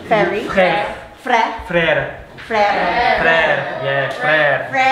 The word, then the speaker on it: Frère: Mam Shikara start a real pronunciation work with the children so they understand and learn new things. Ferry, is that right? Ferry. Frère.